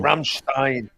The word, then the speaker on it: Rammstein: I says I know but like people say it wrong but people say it wrong Rammstein is Stein thank you definitely is